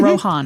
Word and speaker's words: Rohan: So when I read this I said, "Oh, I know how to say this." Rohan. Like Lindsay Lohan. Oh, Lohan. I love it. It's not that way. That's the the rube way to say it. It's Rohan.